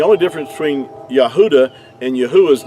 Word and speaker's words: Yahuah: in ancient hebrew and if you remove the d out of yehuda you have the pronunciation of yahuwah so another word that